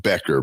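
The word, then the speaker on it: Bueckers: They pronounce it Becker, but I Becker. Yeah. Okay. Becker. I think it's Buer, but Okay.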